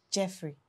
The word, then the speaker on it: Geoffrey: And it's pronounced Jeffrey.